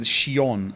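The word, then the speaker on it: Xion: I mean, Ziggbar, I'm not expecting anything different said Shion. Yeah. The chief spoke. That's how you pronounce their name correctly.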